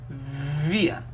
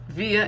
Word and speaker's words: wir: So we have wir. Wir is we. Remember, W's in German pronounced like V's.